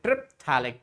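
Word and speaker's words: terephthalic: And now, when they are 1,4 to each other, we will say triphthalic. Triphthalic. Once again, P is silent.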